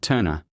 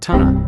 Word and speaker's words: Tunner: and Turn It's pronounced Tunner, not Turner.